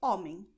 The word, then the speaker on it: homem: Und Homem. H ist auf Portugiesisch stumm. Aber in dieser Kombination ist es ein bisschen speziell. Aber hier Homem. Stumm wird geschrieben, aber nicht ausgesprochen.